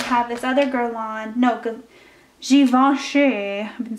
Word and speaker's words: Givenchy: And then I have this other Guerlain, no, Givenchy, I've been saying it wrong, in like this hot pink color.